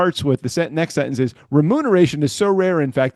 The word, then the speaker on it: remuneration: So then why does it say up here remuneration is so rare? What they're saying is it's so rare in fact that most people who do use it in day-to-day life mispronounce it as renumeration.